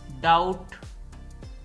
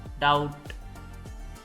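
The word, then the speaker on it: doubt: wise वरना certainly यकीनन डाउट दोस्तों यह ल डाउट है इसमें भी साइलेंट है डाउट शक डेट इसमें भी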